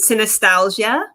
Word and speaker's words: Synesthesialgia: yes yes okay so i pronounced it synostasia and part of the reason why i pronounce it that way too is just because i wanted it to kind of have like a similarity to nostalgia because a lot of